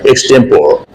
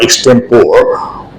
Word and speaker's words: extempore: Though I have heard people, especially the beginners, pronouncing the word extempore. They say that they use the word extempore without knowing that the final E is also pronounced.